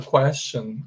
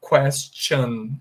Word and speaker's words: question: Então você falaria question, question. Mas aqui, nesse caso da palavra questão ou pergunta, a gente pronuncia um som de T antes do CH, então fica question, question, question, tá bom?